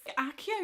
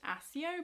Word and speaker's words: Accio: Accio would be very useful, although I still believe that should be pronounced Accio, but never mind.